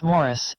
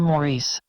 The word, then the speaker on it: Maurice: and a producing capacity he always insisted that his name be pronounced Morris as they do in England ironically when he played Samantha's father on Bewitched they pronounced the name Maurice his second most notable